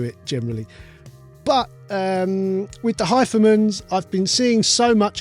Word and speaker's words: HIFIMAN: And it took me a while to get that it's the same one that people were talking about, because it looks like Hifiman, but apparently it's pronounced Hifiman.